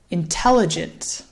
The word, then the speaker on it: intelligent: where is the stress it is intelligent intelligent so the stress here falls again on that second syllable intelligent intelligent and you'll notice the first syllable in intelligent it's a little quieter a little bit faster the third syllable actually also sounds like an ah intelligent intelligent so if